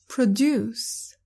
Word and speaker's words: produce: produce كفعل تعني ينتج ويصنع. produce. وإن كانت اسم فهي تلفظ produce وهي تعني منتجات، عادة تكون منتجات زراعية.